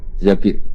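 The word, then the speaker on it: الزَّبِير: Di hadis ini bukan bacanya bukan Zubair, tapi Zabir. Abdurrahman bin Zabir.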